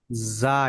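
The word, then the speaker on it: زاي: এটা ঝা ঝাল, যা, এটা যা, ওই যে অন্তস্থ জর মতো আওয়াজ হবে।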